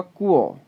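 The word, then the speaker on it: 国: ये प्रोनाउंस होगा कुओ, कुओ, कुओ, कुओ कहते हैं कंट्री को जी।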